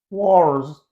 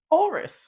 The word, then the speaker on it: walrus: It sounds like you're saying wars. It's like you're saying wars. Walrus.